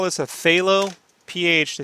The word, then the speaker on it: phthalo: In watercolor terms, they call this a phthalo. PH, they spell it phthalo with the PH, by the way.